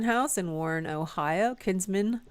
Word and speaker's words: Kinsman: Yeah, and you guys had an interesting weekend at the Kinsman House in Warren, Ohio. Kinsman, is that how you say it? Yes, Kinsman.